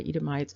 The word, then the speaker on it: Edomite: Again, if you are looking at scripture and you're looking at translations, you will tend to see that ITE pronounced E. So Edomi is another way of pronouncing that.